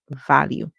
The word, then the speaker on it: value: sound U and the e at the and is silent value and we said values like when you have